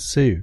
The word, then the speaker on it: Tsu: be happy Sue TSU it's pronounced Sue though that's that's a website.